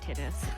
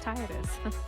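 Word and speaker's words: Tidus: Kingdom Hearts right and we always pronounced it like Titus but like in the in Kingdom Hearts it's like tits and it's not it's not tittis it's Titus I'm telling you we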